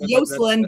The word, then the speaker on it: Joselyn: Well, you know that Yoselin is just the Spanish version of Joselyn, which is pronounced Yoselin because that's why my characters are Yasmin.